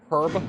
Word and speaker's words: herb: Herb. Do you guys know that the Brits pronouncing the H in herb is actually a fairly recent change?